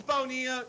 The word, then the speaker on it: Bonilla: what he's talking about the spanish pronunciation for that name is bonilla so godzilla would not rhyme with it it would have to be godzilla bonilla and i apologize for